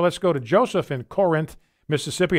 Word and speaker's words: Corinth: Let's go to Joseph in Corinth, Mississippi. And that's how you say it, by the way, ladies and gentlemen. It's not Corinth, it's Corinth.